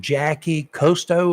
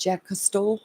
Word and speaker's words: Jacques Cousteau: One of them, the Monitor, and a guy named what is his name, Jackie Cousteau or something like that. Jacques Cousteau.